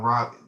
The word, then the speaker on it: Raleigh: About Shaw University, it's out in Raleigh.